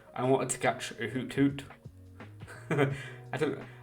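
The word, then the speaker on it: Hoothoot: wanted to catch a hoot hoot I don't I normally call it a hoot hoot but there's a t in the middle so I'm trying to pronounce my letters a bit better there's a hoot hoot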